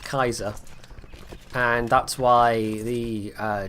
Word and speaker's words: Caesar: until relatively recently but Caesar is wrong anytime we say Caesar that he's actually pronouncing it wrong the Germans had it right it is basically pronounced Kaiser and that's why the